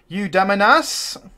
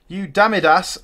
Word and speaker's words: Eudamidas: Eudaminas. Eudamidas. Sorry, I always pronounce that wrong.